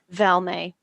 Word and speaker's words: Val May: So just remind me of your mum's name, her pronunciation. Val May.